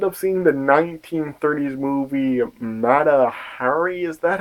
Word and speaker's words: Mata Hari: And they ended up seeing the 1930s movie Mata Hari.